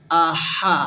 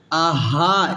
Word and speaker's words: أحد: Ahad. Aha. Ha. Ha. Aha, it's wrong. Aha, it's correct.